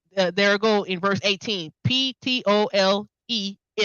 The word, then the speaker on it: Ptolemy: Ptolemee. Right? Ptolemy.